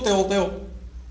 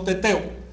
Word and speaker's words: teteo: No digo teoteo, sino teteo. Si esta raíz forma un diptongo, solo pronuncio la primera parte.